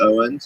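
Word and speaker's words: Eoghan: up an accent your your name is pronounced Owens you know so use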